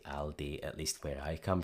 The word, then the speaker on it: Aldi: However, if people do say Aldi, then it makes perfect sense to pronounce it that way based on the spelling, since A, L and then a consonant usually represents an O sound in English. For example, also, alter, always.